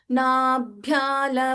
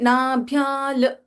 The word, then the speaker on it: नाभ्या: सो वी कैन नॉट से नाभ्याल इट इज not correct because sometimes due टू our Hindi language influence that thing will come up for many of अस।